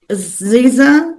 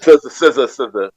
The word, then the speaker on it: SZA: Like I know Ziza, or what? How do you say it? SZA.